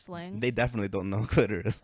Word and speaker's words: clitoris: It is clitoris. It's clitoris with just a little accent on the I.